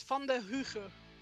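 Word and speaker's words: Vanderhuge: Bolt van der Huge is how you would pronounce it in Dutch.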